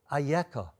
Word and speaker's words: אייכה: read it those are the consonants we read it ayeka but it could be vocalized in another way and the midrash on ayeka picks up this point the ayako addressed to adam will become later on in history another word spelled aleph huff and hay but will be verbalized will be vocalized as echa how did it happen